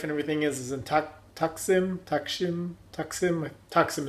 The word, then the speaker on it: Taksim: Taksim is, I think, is the proper way of pronouncing it.